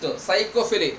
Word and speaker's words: psychophily: Next, psychophily. Letter P is silent.